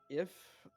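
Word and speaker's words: Giff: name is if g-i-f-f the g is silent it's if if see because you you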